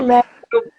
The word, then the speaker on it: Schmöckel: Me diga aí como é que se pronuncia, então, Schmeckel. Isso, Schmeckel, boa exatamente.